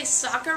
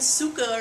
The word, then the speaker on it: Sokka: Also, you couldn't say Sokka right, kept saying Suka or something.